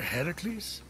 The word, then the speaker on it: Heracles: doing there that thing with your voice the heracles yeah that that is how it's supposed to be pronounced seems like a lot of work it's